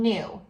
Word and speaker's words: knew: I know something, N, and then knew.